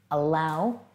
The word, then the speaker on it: allow: Allow means that it's something that you can let happen or let in or approve of. Can you say allow? Yeah, you only pronounce one of the L's.